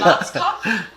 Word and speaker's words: Schwarzkopf: In German, we pronounce it Schwarzkopf, which literally means black head. Schwarzkopf. English native speakers usually pronounce it Schwarzkopf or Schwarzkopf or something along those lines.